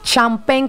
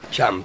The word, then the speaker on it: Champen: Champagne, ¿cómo suena? Champagne. Pero lo van a escribir con C-H-A-M-P-E-N.